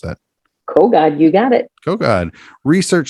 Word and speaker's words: Kogod: Is it Kogod? How do you pronounce that? Kogod, you got it.